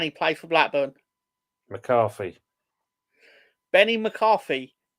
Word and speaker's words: Benny McCarthy: Benny McCarthy, hence rhymes with Jenny McCarthy.